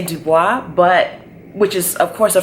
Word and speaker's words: Du Bois: And I used to say Dubois, which is of course a French last name, but I actually read more on him, and he actually didn't like the French pronunciation of his name.